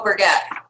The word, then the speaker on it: Brigitte: Oh, Brigitte. Awesome. Brigitte or Brigitte, something like that. Yeah. I was surprised when I heard the pronunciation of her name. I thought it was Bridget. Me too. Not Bridget.